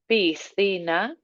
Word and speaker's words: piscina: La piscina, so the tongue comes out second.